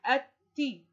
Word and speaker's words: التي: بصوا التاء نطقتها مرتين اسنان، واللام الشمسية لا تنطق، نطقت الألف وبعدها التاء مرتين اسنان، الأول ساكن والثاني متحرك، وكمل باقي الكلمة، فتصبح التي، التي، التمساح، التاء مرتين اسنان، التمساح.